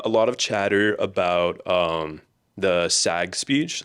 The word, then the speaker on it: SAG: There was a lot of chatter about the SAG speech. That's how you say it. SAG, not SAG. SAG.